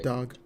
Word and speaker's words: Goddag: So it's spelled G-O-D and then D-A-G for day. Goddag.